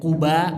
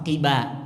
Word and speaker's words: Quba: Ya, sebagian bacaannya dalam bahasa Arab ada yang Quba pakai dhammah, ada juga yang bacanya pakai kasroh, Qiba. Nah, jadi kalau dengar kadang-kadang orang Arab, saya malah sering dengar mereka bilangnya Qiba, Qiba. Ternyata bacanya boleh dua, ya, boleh dua, boleh Quba, boleh Qiba.